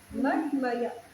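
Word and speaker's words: मन्मया: Mat maya, Mat Maya. See, Mat you have Maya. to pronounce properly. When there is a long dash, then it is A. Otherwise, O. Hmm? So it is Mat Maya.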